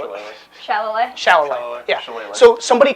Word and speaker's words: shillelagh: Yes, someone could dispel I said that because I'm not Shillelagh. trying to pronounce it. shillelagh. Shillelagh. Shalloway.